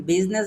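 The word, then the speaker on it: business: বিজনেস বলি না তাহলে আপনি সহজভাবে মনে রাখবেন বিজনেস বানানোর ভিতরে আ এর উচ্চারণ হয় না।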